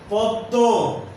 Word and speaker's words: পদ্ম: একইভাবে ভস্য, বিস্ময়, পদ্ম, রশ্মি, দৃশ্য ইত্যাদি শব্দের ময়ের উচ্চারণ হবে না।